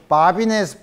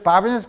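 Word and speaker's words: Babinet: 그래서 이제 문제를 풀어봐야 되는데, 이 한 문제를 먼저 보면, 프랑스 사람이야. 그러니까 그때 T를 발음을 안 하죠. 바비네스 프린시플이라고 해요.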